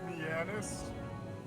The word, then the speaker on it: Mianus: Well, it's supposed to be pronounced Mianus, but with the way how it's, you know, spelled and shit.